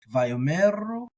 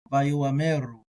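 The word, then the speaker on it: ויאמרו: I like including it. A lot of people will just treat it as silent, and that's okay. Vayomeru, Vayoameru. At the speed of speech, it's a little bit hard to tell the difference, but Vayomeru, Vayomeru.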